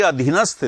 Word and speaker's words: अधीनस्थ: और ये अधीनस्थ, देखो ये अधीन, ये स्थय, स्थय यानी स्थित, स्थय का अर्थ होता है स्थित, तो तय नहीं, हम लोग बोलते हैं अधीनस्थ, तय नहीं है, अधीनस्थ है, अधीनस्थ, तटस्थ, तटस्थ है, तट